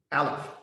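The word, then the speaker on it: אלף: Its pronunciation is ah, like a silent sigh. However, when we read this letter, we read Aleph.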